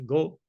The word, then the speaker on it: GHO: of the a governance is pronounced go uh so the age is muted um we uh in